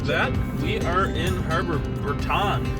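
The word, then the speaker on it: Harbour Breton: Alright, just like that, we are in Harbor Breton. It's actually pronounced Harbor Breton.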